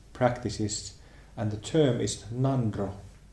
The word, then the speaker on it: Ngondro: In Tibetan Buddhism, they have a term for these preliminary exercises, preliminary practices, and the term is Ngondro. It's written N-G-O-N-D-R-O, Ngondro, and it's pronounced Ngondro.